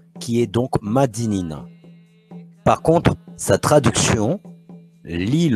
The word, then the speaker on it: Madinina: Par l'oral, dans la langue créole, nous avons conservé la bonne prononciation qui est donc Madinina.